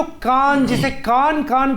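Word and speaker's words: KAAN: parallel working somewhere तो वो जो कान जिसे कान कान प्रोनाउंस किया जाता है उसे अगर हम टर्किश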